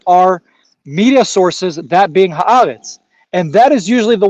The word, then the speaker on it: Haaretz: It's Haaretz.